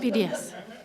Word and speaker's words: NPDES: Now, do we pronounce that acronym? What is it? Oh, we say the letters. Okay. Requirements. So we're just NPDES.